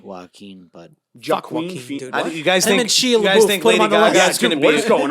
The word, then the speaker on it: Joaquin: you say queen how do you say it Joaquin Joaquin Bud jockey what is going on over there